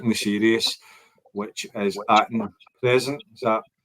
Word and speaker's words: Aten: It rhymes with Satan, doesn't it?